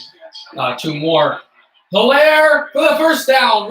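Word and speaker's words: Edwards-Helaire: For Clyde Edwards. Hilaire, the H is silent.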